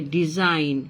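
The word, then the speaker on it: design: জিএন যখন থাকবে কোনো ওয়ার্ডের শেষে অথবা মাঝে, তখন জিটা উচ্চারণ করা হবে না, এটাকে বলা হয় সাইলেন্ট লেটার। জি হচ্ছে একটা সাইলেন্ট লেটার, যেটা উচ্চারণ করা হবে না। তাহলে ডিজাইন খেয়াল করো, যেমন সাইন, ডিজাইন, হ্যাঁ, এগুলার যেটা উচ্চারণ করা হবে না, কারণ এগুলা সাইলেন্ট লেটার।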